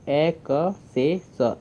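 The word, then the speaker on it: access: काम कर रहा है कि डबल एस है, दो दो एस है, तो उसमें सिर्फ एक एस की साउंड आएगी, दूसरा एस साइलेंट रहेगा। तो यहाँ पे एक एस जो हमारा है उसकी साउंड आ रही है स की, उसकी साउंड आ रही है स की, तो ए क से स, एक्सेस।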